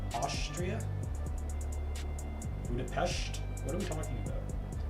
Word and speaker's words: Budapest: It's pronounced with shush, not S. Sincerely, a local citizen. It's pronounced with Czechia? Czechia? No. It's pronounced sh, not S. Austria? Budapest?